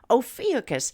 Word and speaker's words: Ophiuchus: that faint constellation of yukis the serpent Bearer interestingly enough this broadcaster recently heard it pronounced by someone who should know as ophiacus so we're just gonna put it in that tomato tomato category nevertheless tonight it appears